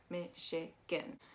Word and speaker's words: Michigan: so mispronounced but um we're actually going to be pronouncing that ch as an sh i also want to make sure that you know that that again is actually that gan is actually more of an i sound michigan going down we have